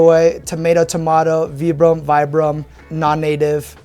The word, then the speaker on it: NONNATIVE: tomato tomato Vibram Vibram non-native nonnative however it is if somebody knows the true answer please let us know but I did go through their videos and I believe the correct pronunciation is nonnative so I got I